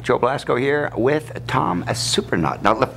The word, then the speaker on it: Surprenant: Joe Blasco here with Tom Surprenant. Now, right off the bat, all right, we got to get the pronunciation of the name right.